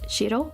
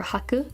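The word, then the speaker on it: 白: in tenshi which is what I am also pronounced as Ahmed you have white Shiro or Haku yaku and then I always mess up the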